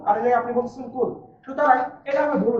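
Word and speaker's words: قل: অথচ এই জায়গায় বলছে বলুন, আর এই জায়গায় আপনি বলছেন কুল। সুতরাং এটা আমরা ভুল উচ্চারণ, আর এটা হচ্ছে সঠিক উচ্চারণ।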